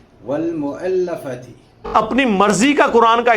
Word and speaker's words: والمؤلفۃ: چلیے ایک بار ہجے کر لیتے ہیں. واو زبر لام ول، میم پیش مو، حمزہ زبر لام ال، لام زبر لا، فا زبر فا، تا زیر تی. والمؤلفۃ.